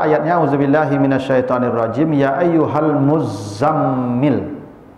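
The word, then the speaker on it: المزمل: Kita baca ayatnya, auzubillahi minasyaitonirrajim, ya ayyuhal muzammil. Jadi bacanya bukan muzammil, Pak. Muzammil. Double tasdidnya ini.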